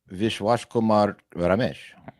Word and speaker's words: Vishwash Kumar Ramesh: Can you pronounce that for me? Vishwash Kumar Ramesh.